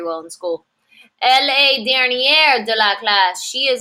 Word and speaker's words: dernière: Elle est dernière de la classe. She is last in the class. Dernier. We do have a pronunciation change here. Dernier to dernière.